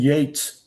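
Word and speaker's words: Yeats: Keats and Yates don't sound alike, but they're spelled alike.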